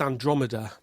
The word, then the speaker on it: Andromeda: And not one person has said to him, "Mate, it's pronounced Andromeda."